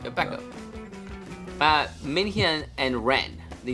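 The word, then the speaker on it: Baekho: Don't pronounce the H, right? Becko.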